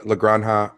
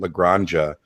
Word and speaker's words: La Granja: sure i was still pronouncing it lagrangia and getting dirty looks from people that's how that's how